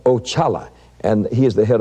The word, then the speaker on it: Oxala: Now, that was the first one I met, and that's spelled O-X-A-L-A, and it's pronounced Ochala, and he is the head of all spirits.